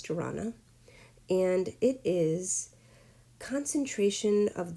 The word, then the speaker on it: dharana: with physical posture, and that is dharana, or dharani. I'm not really sure how to pronounce it, but I think it's dharana.